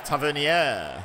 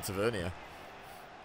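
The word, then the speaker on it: Tavernier: not happy is heus oh it's tavier okay my bad I've been calling him Tavia tavier okay no Ed I'll try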